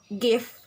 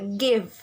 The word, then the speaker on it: give: is give students in students in indonesia usually pronounce this word like gif but the correct pronunciation is uh give give not give third is regarding problem